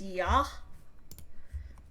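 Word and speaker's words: Я: Despite looking like a backwards R, that is pronounced yah.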